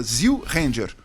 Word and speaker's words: Zyu Ranger: Só muda a pronúncia, Zyu Ranger.